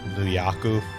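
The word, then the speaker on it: ニューヨーク: upstate new york because in japanese it's nuyaku okay and for some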